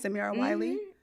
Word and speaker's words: Samira Wiley: And we've got Samira Wiley. Wow. Okay. All right. Is that how you say her name? Her name is Samira Wiley.